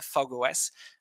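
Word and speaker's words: fog05: and eclipse fog os it's written fog zero five but it pronounced uh fog os uh so both platforms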